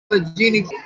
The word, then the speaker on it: Allegheny: Allegheny, I said it right.